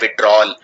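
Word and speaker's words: withdrawal: यहां पे याद रखिए इसको लिखते हैं विड्रॉवल, लेकिन बोलते हैं विड्रॉल।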